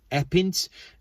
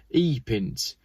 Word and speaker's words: Epynt: I've said that wrong, and you rally people are going to be like, Geoff, you pronounce it Epynt, Epynt, E-P-Y-N-T.